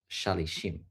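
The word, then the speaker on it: שלישים: So it's kind of written as if it says shalshom, which can mean like threefold, but it's pronounced shalishim, which is similar to 30, but it's not.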